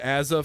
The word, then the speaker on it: AZR: how do I get Aza from azr because Aza is how they pronounce it in Australia you dumbass automatic going